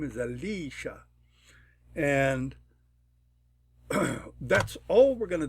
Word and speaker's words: Alicia: correspond with the syllable this is a three syllable word Alicia if we give it a 1 it will accent the first syllable we give it a 2 it'll accent the second syllable if we give it a 3 it'll accent the third syllable I'm gonna give it a 2 because I like it to accent Li Alicia my name is